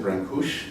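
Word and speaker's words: Brâncuși: Constantine Brancusi, I'm told by those who speak Romanian better than I do, which is pretty much everybody, you know, that you pronounce it Brancusi, but let's do Brancusi.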